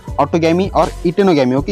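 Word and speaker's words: geitonogamy: होता है, ऑटोगैमी और इटेनोगैमी। ओके, या फिर इटेनो बोलने का, जी नहीं बोलने का, जीटेनो नहीं बोलने का। ओके, इटेनो बोलने का, ई आई मतलब जी इसमें साइलेंट होता है।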